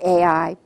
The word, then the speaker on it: Ai: to the city of AI now AI how do you pronounce ai ai how do you spell it ai so if you're pronouncing it or you're spelling it it's all the same AI so it's very